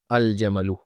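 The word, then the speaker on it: الجمل: Jamalun starts with jim, and we have the letter jim here in the moon letters phrase, so the letter lam of al should be pronounced here, al-jamalu.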